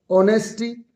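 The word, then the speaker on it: honesty: friendship, दोस्ती, एनिमिटी, दुश्मनी, ऑनेस्टी, H silent है यहाँ पे, ईमानदारी, ब्यूटी, खूबसूरती, पॉवर्टी,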